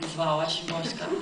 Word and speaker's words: Wisława Szymborska: It's not spelled like Wisława Szymborska, but it's pronounced Wisława Szymborska.